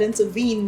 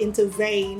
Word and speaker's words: intervene: government does not intervene I said intervene not into vain yeah so that what